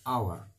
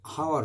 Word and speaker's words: hour: এখানে দেখো এইচ এর উচ্চারণ হচ্ছে না, এইচ উচ্চারণ হলে হাওয়ার হতো, HO হলে হনেস্ট হতো, বাট এখানে কিন্তু তা হচ্ছে না। যেহেতু এখানে হনেস্ট হচ্ছে না বা হাওয়ার হচ্ছে না, এখানে আওয়ার হচ্ছে এবং অনেস্ট হচ্ছে।